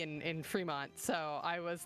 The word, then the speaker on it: Fremont: There's only one E, but yeah, I assume Seattle. I've not been there. I've only been to the name. Okay, it is Fremont.